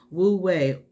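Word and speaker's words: wu wei: is natural to you as a human being wu way it's it's spelled w u and then w-e-i but this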